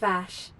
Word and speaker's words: Vashj: for a flight there vosh vash lady vash i'm sure it's pronounced bash virus what happened here